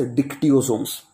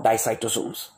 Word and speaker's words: dictyosomes: Some are telling it as dicytosome, some are telling it as dictyosomes. D-I-C-T-Y-S-O-M-E-S. Okay, dictyosomes or dicytosomes. D-I-C-T-Y-O-S-O-M-E-S. Dictyosomes or dicytosomes, both are clear. Both are okay, no problem in pronunciation.